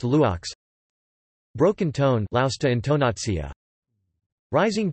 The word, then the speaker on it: loks: Brief rise followed by a long fall, e.g., lokes, lu grave ks, arch, pronounced luox.